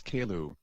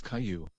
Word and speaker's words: Caillou: teacher took role and mispronounced my name as kailu when i told her that my name was caillou everybody started laughing and